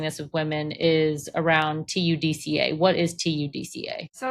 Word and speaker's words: TUDCA: when you're discussing this with women is around TUDCA.